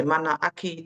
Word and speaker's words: manaaki: The manaaki.